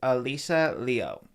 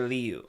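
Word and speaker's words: Alysa Liu: Oh, the proper pronunciation is Alisa Leo or Leu.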